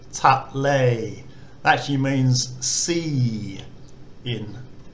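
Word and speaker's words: ทะเล: But tahan is a T consonant, then the short A vowel, ta is the first syllable, then the Sara A and lo ling, lay, ta lay.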